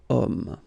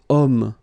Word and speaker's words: homme: Because homme, well, it's masculine, yes. The reason is that it starts with the sound O. Because if you remember carefully, H is not pronounced, so H doesn't exist phonetically.